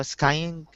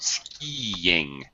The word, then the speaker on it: skiing: So skying. Okay, it's a long I sound. Skiing. Skiing. Skiing. Yeah. With a Y sound in between. Skiing. Skiing. It's actually two syllables.